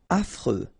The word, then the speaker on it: affreux: Affreux. Final X not pronounced. And then you get this fr, freux, affreux.